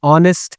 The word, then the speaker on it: honest: You would pronounce it as honest person because H is silent over here.